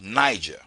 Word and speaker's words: Niger: on me is actually a country in Africa called Niger. Because of your stupidity, because of your ignorance, you added another G so you can keep your mispronunciation of the word Niger.